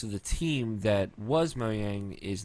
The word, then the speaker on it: Mojang: Our person was one of 3 co-founders and chairmans of the board as far as Mojang was concerned.